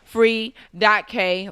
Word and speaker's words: Free.K: You could just go ahead and call me Free.K or Free, but the K is silent.